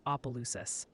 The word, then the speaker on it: Opelousas: Nakatosh's is Nakadish, and Opelousas is Opelousas. Thanks for looking out, David. I didn't know if it was Opa or Appa. Now I know.